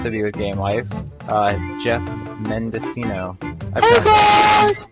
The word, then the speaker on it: Geoff Mendocino: be with Game Life, Geoff Mendocino. Hey guys! I pronounced that right? Yeah, that's right, Geoff Mendocino.